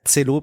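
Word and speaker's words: Celo: soyez pas surpris hein ça s'écrit co c e lo o mais ça se prononce cello parce que c'est de l'esperéranto si je dis pas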